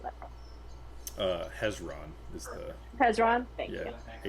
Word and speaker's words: Hezron: Would you know an elemental named Tzeron?" I'm speaking in Silvin. Okay. Um, she looks from Vald to Clappy. Hello. What What's the name that you just said? I hope you're pronouncing that. Uh, Hezron is the Hezron.